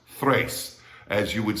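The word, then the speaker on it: tres: so it's not pronounced trace it's pronounced thrace as you would say three not tree as you would say throw not troll alright the tr in spanish is always pronounced like a t-h-r so it happens in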